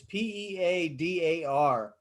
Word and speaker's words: Peadar: Peter O'Donoghue, and it's Peadar, pronounced like Peter.